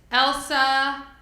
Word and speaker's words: Elsa: For the record, I had to get a private lesson from Dr. Kastner about how to say it. So it is Elsa.